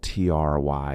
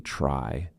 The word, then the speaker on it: try: So for example, TRY is not going to be try. It is going to be cry, try. Travel, not the true T sound, acha plus R, try, travel.